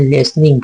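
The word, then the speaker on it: listening: लिसनिंग लिनिंग नहीं पढ़ेंगे य पर टी साइलेंट होता है ई से पहले टी है तो साइलेंट हो जाए लिसनिंग पढ़ेंगे लिसनिंग टू द क्रो कवे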